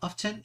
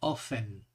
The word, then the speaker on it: often: que significa siempre often often se puede pronunciar de dos maneras con la t o sin la t often y ofen vale significa a menudo